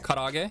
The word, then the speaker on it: karaage: Karaage? Karaage. Did I say it right? Karaage, yeah.